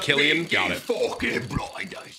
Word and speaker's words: Cillian: love peaky blonders bro it's pronounced Killian oh I'm a fan